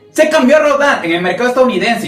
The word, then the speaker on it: Rodan: la que se basa, aunque técnicamente en un inicio era Radon, así es como suena en Japón. Se cambió a Rodan en el mercado estadounidense